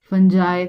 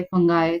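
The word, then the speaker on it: fungi: फंजाई, फंगाई जो भी आप इसको प्रोनाउंस करते होंगे।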